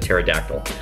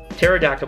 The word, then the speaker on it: pterodactyl: pronounce your name uh pterodactyl because it's spelled funny right because it's a there's a p in front of the pterodactyl I also like possum